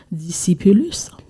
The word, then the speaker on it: discipulus: Donc, on va faire le latin, on va faire l'étymologie du mot latin, qui est on le prononce discipulus, ce qui veut dire élève ou bien apprenti.